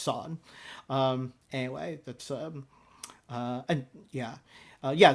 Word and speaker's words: Sorn: YouTube reactors will say sorne you know and I don't think she seems to mind it either I just happen to know it's pronounced sawn anyway that's and yeah